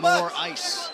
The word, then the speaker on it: Moraes: Sergio Moraes. They'll be pronouncing it more ice later.